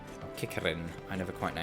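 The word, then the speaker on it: Qiqirn: So I basically just need to do 3 combos on some kickerns. Or kickerin. I never quite know how to pronounce that. Q-I-Q-I-R-N, I think. Is that how we spell it? Yes, kickerin.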